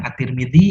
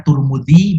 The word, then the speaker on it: at-Tirmidzi: Abi Dawud sunan an-nasa'i sunan at-tirmidzi ada juga yang membacanya turmudi begitu Sunan Ibnu Majah ya